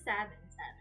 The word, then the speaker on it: salmon: Yeah, Malaysians pronounce the L in salmon. That's what I heard. Sorry, I should say salmon.